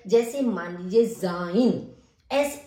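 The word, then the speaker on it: sein: उच्चारण करते हैं उस तरीके से सा का उच्चारण किया जाता है जैसे मान लीजिए जाइन एस ई आई एन जाइन तो एस का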